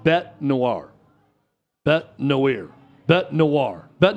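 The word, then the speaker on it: bête noire: It's just um it's pronounced Bet Noir.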